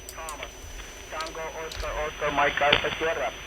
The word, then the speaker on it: Thomas: How do you say your name? Tumas or Thomas? Go ahead. Yeah, my name is Thomas.